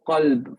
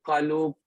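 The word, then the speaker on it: قلب: Did you go u, a, e, qalub, qalab, qalab, qalib? You didn't, right?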